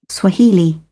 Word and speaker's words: Swahili: Swahili. Swahili. Swahili. All right. Aquí la H, la pronunciación siempre, el acento. Recuerden que esta apóstrofe es la que nos indica dónde ponemos la fuerza.